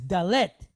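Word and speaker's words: dalet: going to go to number four, which is dallet. Okay. Dallet. So, it has a d sound for us. has a numerical value of four. Okay. So we see the older form because the dallet is like a doorway for us.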